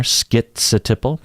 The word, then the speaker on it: schizotypal: that first syllable right some people pronounce it skit like skits a Tipple you hear that t in there schizo Tipple or ski without a